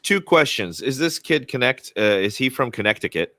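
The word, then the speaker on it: Knecht: some kid named whose name is literally Dalton connect it's spelled KN NEC HT but it's pronounced connect and he was a projected lottery pick projected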